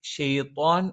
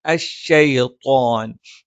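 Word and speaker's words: الشيطان: ഇവിടെയും ഷെയ്ത്വാൻ എന്ന് ഉച്ചരിക്കാനുള്ള സാധ്യതയുണ്ട്. അതിനു പകരം അശ്ശൈത്വാൻ. ഇവിടെ ത്വ എന്നുള്ള ഉച്ചാരണം മലയാളത്തിലുള്ള ത്വ അല്ല.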